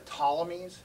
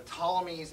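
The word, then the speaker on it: Ptolemies: discussion here are the tommies which starts with a P but you don't pronounce the P it's PT uh is the the tommies and soluces so by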